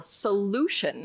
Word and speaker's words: solution: So this word has 3 syllables. So let's see which one has the emphasis. 3, 2, 1. Yes. All right. So that was correct. Very well done. The second syllable, solution.